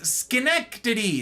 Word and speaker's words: Schenectady: Literal pronunciation is Schenectady.